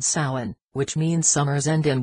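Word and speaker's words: Samhain: stages of Halloweens development soin pronounced so in All Hallows Eve and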